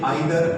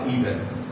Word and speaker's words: either: That is, the both pronunciations are same. Whether you say neither or neither, whether you say either or either, are singular and require singular verb.